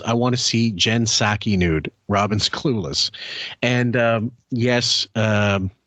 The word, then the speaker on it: Psaki: It's Jen Psaki, but there's silent P up front. It's a weird name. It's like if I spelled my name Howard Pstern.